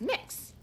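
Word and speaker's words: Mx: call me mix and it's m x dot and you pronounce it as mix this is not the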